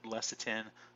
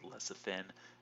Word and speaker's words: lecithin: we seeing here is lecithin alright or less of ten I know people have called it less of ten or less of thin it doesn't really matter how you pronounce it but Cephalon has hydrogen's